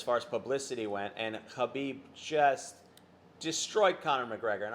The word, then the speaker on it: Khabib: It is Khabib, not Khabib. I've heard it pronounced both ways.